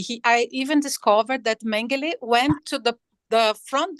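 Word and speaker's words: Mengele: everything that mangali did mang we say in Portuguese mangali but in German it's mang uh not just because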